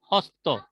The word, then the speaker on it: হস্ত: তো এর এর উদাহরণগুলো হচ্ছে, যেমন সংস্কৃত হস্ত শব্দটি প্রকৃতিতে ছিল হস্ত। এই যে হত্ত, হত্যা না, কিন্তু উচ্চারণ হচ্ছে হ ত থ, এইভাবে আর কি।